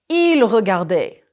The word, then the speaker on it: regardaient: Notice that il regardait, singulier, and il regardait, pluriel, sound the same.